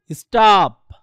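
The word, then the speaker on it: stop: স্টপ।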